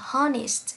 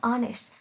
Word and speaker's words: honest: đặc biệt này và hay đọc là honest, ví dụ như trong từ này. Đây. Nhưng không, âm h ở đây bị câm và phải đọc honest thì sẽ dẫn đến